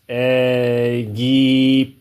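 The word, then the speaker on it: Egipto: The correct pronunciation of the mantra is as follows. Eggypto. Eggypto.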